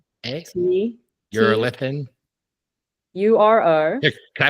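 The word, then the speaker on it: Urolithin A: o l i t h i n a you're a lithan you are a can I put it in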